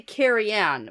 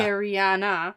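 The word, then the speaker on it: Careane: Now, at this point, I want to say Cariane, but that's not how the audiobook pronounces it. Now that I'm reading it, it looks like Cariane. Yeah, the extra uh Cariana. Cariana. Yeah.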